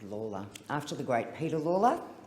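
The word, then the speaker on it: Lalor: at the seat that I represent is called Lawler after the great Peter Lawler and I'll never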